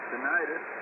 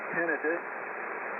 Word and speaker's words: tinnitus: I made an application with them, told them I had tinnitus, or tinnitus, depending on how you spell it.